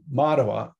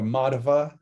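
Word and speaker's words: Madhva: the far right chronologically matawa um matawa or matava m-a-d-h-v-a or w-a the v and the w are often pronounced the same way um even i have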